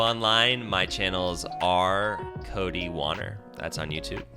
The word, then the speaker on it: Wanner: Yeah, so online, my channels are Cody Wanner. That's on YouTube. WANNER. Rhymes with honor if you want to pronounce it, but I don't care how you pronounce it as long as you're saying it.